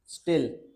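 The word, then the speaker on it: stele: Tissue, vascular bundle, पिथ, इसको commonly बोलते हैं स्टिल। स्टिल, स्टिल क्या बोलते हैं इसको, स्टिल, इस प्रोनाउंसिएशन स्टिल है इसका।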